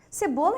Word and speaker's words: cebola: s por exemplo cebola cebola é escrita com c mas o som é de S ó ouça C tá